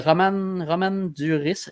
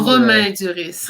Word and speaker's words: Romain Duris: Il y a Roman Duris. J'espère, je m'excuse. Romain Duris. Romain Duris, ok. Je m'excuse si je le prononce pas comme ça.